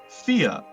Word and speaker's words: Fe: name of this game Thea that's f e it's a Swedish pronunciation it is on origin